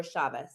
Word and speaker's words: Chavah: at underscore its underscore Chava, Chavah. And It's Chava, not Chava. yes, You that is the Jewish pronunciation, but I am not Jewish.